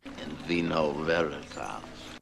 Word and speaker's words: in vino veritas: And he's saying, in vino veritas. in vino veritas. That's more of a classical Latin pronunciation. And of course, he's using that V sound, very typical of the Latin pronunciation of yesteryear.